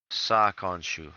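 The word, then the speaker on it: Sa'khonsu: Lotus Sakansu. Spell that last one. S-A, an apostrophe, K-H-O-N-S-U. Sakonshu.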